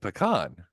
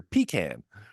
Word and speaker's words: pecan: I grew up saying pecan, but in the South, I hear pecan.